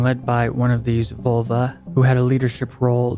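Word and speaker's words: völva: of the curse is a vulva, or volve, pronounced in Danish, who was a Nordic seeress, or witch.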